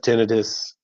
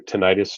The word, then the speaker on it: tinnitus: yeah you know what I have tinnitus or tinnitus depending on how you pronounce it and uh maybe it